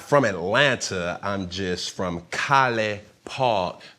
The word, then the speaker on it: College Park: I'm just from College Park. The G is silent. It's really enunciated as College Park, but the people where I'm from, they just say College Park.